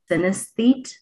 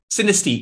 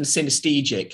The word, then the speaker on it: synesthete: Synesthete? Synesthete, yes. Thanks, doll. Synesthete is the correct term rather than synesthetic.